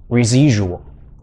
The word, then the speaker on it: residual: 来帮大家呢，这个念一下，叫做 residual 这个 si 是有点 z 是